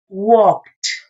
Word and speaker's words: walked: If it finishes with one of these letters, in this case, K, now the past tense is going to be pronounced as T. So, is walked. Walked. We pronounce the K and then a T.